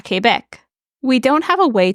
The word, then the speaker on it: Québec: While we refer to it as Quebec City in English, in French it's just called Québec, like the province.